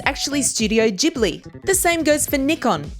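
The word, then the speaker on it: Ghibli: example many people say that this is Studio gibli Japan's famous animated movie company but after your 2 days of study you'll know that it's actually Studio jibli the same goes for Nikon which is pronounced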